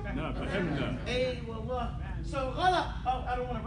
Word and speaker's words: غلط: Now the T sound is actually a tha. So don't say it like T, like ghalat, but say ghalat. I only put the two T's there because the tha is the strongest letter in the Arabic alphabet.